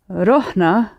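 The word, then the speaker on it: رحنا: It's this consonant that makes hollow verbs short in the middle. Ti, zorna. On the other hand, the past tails for he, she, and they don't start with a consonant, and they have the longer R sound in the middle. So that's why we have rah, he went, and rahit, she went, but rohna, we went.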